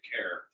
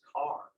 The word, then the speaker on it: Kerr: He pronounced it Kerr. It's Kerr. It would be Kerr, but if you're around here, it's Carr.